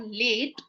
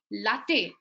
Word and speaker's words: latte: I'll put a schwa here because it's not late. It is latte.